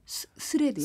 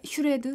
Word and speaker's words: 스레드: 스레드요? 스레드. 스레드. 스레- 발음이 스레바 아니고요. 아, 슈레드? 치즈도 아니고요. 아, 예.